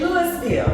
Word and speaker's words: Louisville: got to say Louisville you cannot say Louisville it's got to be Louisville Louisville a Louisville somewhere in there okay somewhere in there okay